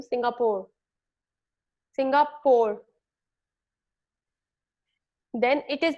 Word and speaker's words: Singapore: It's actually Singapore. It's not Singapore. लिखते तो हम PORE है, पर हम बोलते सिंगापुर है, PUR की तरह. It's not Singapore. I didn't go to Singapore. I went to Singapore.